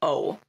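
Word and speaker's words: を: only pronounced as an O. So the W is silent.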